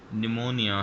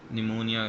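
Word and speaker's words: pneumonia: से यह नॉलेज है और निमोनिया है निमोनिया निमोनिया उर्दू में आप कहते हैं तो यह पी एन से शुरू हो रहा होता है इसलिए पीस का साइलेंट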